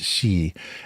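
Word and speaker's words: 四: So the number 4 in Japanese can be pronounced shi, and shi is also the word for death.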